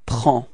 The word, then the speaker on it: prends: Okay, so you can see that we've got S at the end and then D as well, but then we don't pronounce them. So actually the only thing we will pronounce for this form is P-R-E-N, and it's the sound prend.